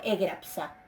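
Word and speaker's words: ἔγραψα: O sea, hasta graf es el tema, pero fi, sigma se escribe en griego psi. Entonces por eso tengo egrapsa, ¿sí?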